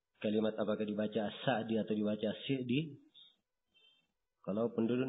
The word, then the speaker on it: As-Sa'di: Di fathah atau di kasrah? Kata beliau As-Sa'di yang benarnya di kasrah. Terus saya tanyakan, ada yang membaca As-Sa'di? Kata beliau itu keliru. Ya.